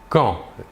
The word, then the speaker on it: quand: Il se prononce quand. La D finale ne se prononce pas.